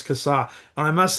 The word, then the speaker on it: Kassa: Well, before we press record, I just said, hey, in Australia, we pronounce that surname as Kassar. And he said, no, it's Kassar.